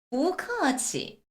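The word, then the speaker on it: 不客气: 자 그럼 여러분 여기서 부를 기계적으로 뿌 뒤에 손이 나오면 이성으로 올라간대 너무 재미 없어요 어떻게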